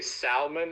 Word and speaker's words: salmon: For the longest time, I used to say salmon and solder. Like I didn't know how to pronounce salmon or solder. I always pronounced the L, and people in high school made fun of me.